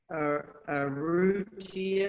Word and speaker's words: Arrutia: And now to Martin Arrutia. Have I pronounced that correctly?